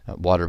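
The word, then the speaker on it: Watir: Water, by the way, is spelled W-A-T-I-R.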